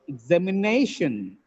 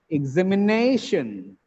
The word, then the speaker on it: examination: rules a little later look at this word examination examination the word has five syllables the penultimate syllable is stressed here what is the